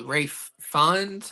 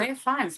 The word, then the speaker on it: Ralph Fiennes: With Rafe Fiennes, however you pronounce it. Rafe Fiennes. Why is this? I don't know, because it's spelled Ralph Fiennes.